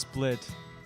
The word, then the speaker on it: SPLT: Yale with SPL tea it's pronounced split but you know people like seem to like